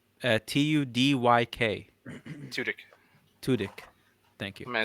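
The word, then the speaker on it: Tudyk: it yes Alan uh uh totki k2so yeah spell it for me please his last name uh t-u-d-y-k tutic tudik thank you may I said turkey Alan tudik I knew the name but you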